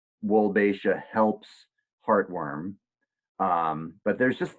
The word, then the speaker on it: Wolbachia: If I say the name, the subtitles are going to get it wrong, but it's pronounced Wolbachia. Wolbachia. It looks like it's Wolbachia, but it's actually pronounced Wolbachia.